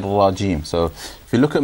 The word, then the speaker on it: رجيم: you look at me, look at how much my lips move when I say shaitan and rajeem, okay? So A'udhu Billahi Minash Shaitanir Rajeem. Very little movement, alright? So try to do the same, okay?